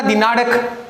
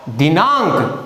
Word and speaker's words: दिनांक: देखिए दिनांक, अगर इसको हम अड़ पढ़ते तो इसको यूं पढ़ना था दिनाड़क, तो इसका मतलब इसका उच्चारण क्या हुआ, दिनांक, और इसका देखिए अंक।